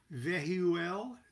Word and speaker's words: Vehuel: two of wands are vehuel that's v e h u e l sounded out phonetically or that v could be sound out as a as a ul and the buzzwords for